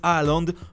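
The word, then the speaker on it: Haaland: en soit erling groth aaland prononcé hollande en norvégien ne laisse personne indifférent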